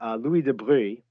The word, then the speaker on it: de Broglie: an italian physicist named louis de bruy it's it's spelt de broglie but um french piedmontese and the the pronunciation is really weird it also doesn't matter